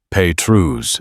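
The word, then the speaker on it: Pétrus: Petrus, the S, silent, the vowels pure.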